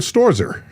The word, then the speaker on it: Stoerzer: Michael Storzer.